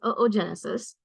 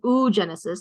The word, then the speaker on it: oogenesis: going to talk about is oogenesis or oogenesis you can pronounce it either way okay and essentially it